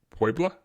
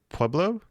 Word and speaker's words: Puebla: Puebla. Is that Pueblo?